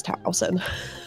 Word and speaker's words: Towson: for Twoson is because if you switch two of the letters, it becomes Towson. That is right. Where I went to school. Yep, Towson University, as well as Tucson, Arizona, spelled completely different but pronounced the same.